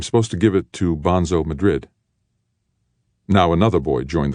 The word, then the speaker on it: Bonzo: to give it to Bonzo Madrid now another boy joined the conversation smaller boy but still larger than Ender not bonso piss head Bonzo the name's Spanish Bono Madrid a Senor Grand Fedor you